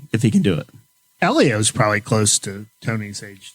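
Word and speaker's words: Hélio: he can do it Elio's probably close to Tony's age too they're right around they grew up racing go-karts against each other we've all agreed on uh common pronunciation of elio not Helio just uh 45 years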